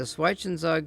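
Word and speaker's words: Zwischenzug: The Schweizenzug, German pronounced Schweizenzug, an intermediate move, is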